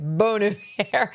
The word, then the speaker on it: Bon Iver: See, it's classier if you pronounce it the French way. Bon Iver.